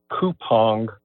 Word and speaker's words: Coupang: The company's name, I understand, is pronounced Coupang.